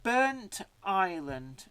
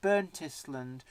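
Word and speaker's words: Burntisland: here now this this is a railway it's burnt island now a lot of people calling burnt Eastland that is the wrong parents pronunciation the place is called burnt Island so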